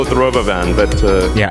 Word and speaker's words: Robovan: The Roboven. Why would you spell it? Robovan and then pronounce it Roboven when it is in fact a Robovan?